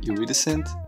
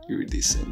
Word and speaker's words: iridescent: the shapes are very very beautiful and they're iridescent that's how you say it iridescent iridescent which means they're going to be really beautiful